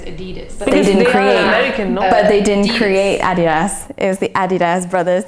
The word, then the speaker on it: adidas: just say something uh everybody in device has adidas but americans say adidas yeah it's a german brand though and it's